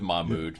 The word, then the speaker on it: Mahmoud: thanks for having me I'll just give you the Americanized version obviously Gary and Lee everybody can pronounce just go with mmud there there's a much more Arabic way to pronounce it but why bother who